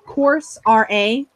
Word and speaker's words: Coursera: getting an SEO certification through an organization called Course RA. That's how you spell it.